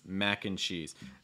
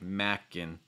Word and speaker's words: mac and cheese: or macaroni and cheese often just pronounced as mac and cheese and so again the short forms like mackin mackin mackin so again a sound where you open your mouth wide you can feel the